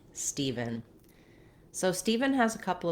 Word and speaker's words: Steven: people also spell the name steven with the letters e-v-e-n just like the word even and that's a good way to think of it because that more closely matches the pronunciation if you can pronounce even you can pronounce steven so the first syllable is what's stress so the steve syllable is stressed ph in some letters